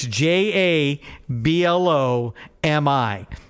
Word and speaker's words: Jablomi: Hey, would you blow me?